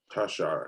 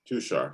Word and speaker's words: Tushar: Tasha? Tashar. Anyway, Tashar. And his Tushar, sorry. okay, Tushar.